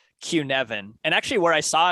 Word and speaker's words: Cynefin: that word again yeah it's c-y-n-e-f-i-n q-nevin and actually where i